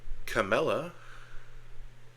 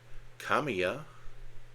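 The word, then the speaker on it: Camellia: Uh, Camella, Kamia, depending on how you want to pronounce double L's.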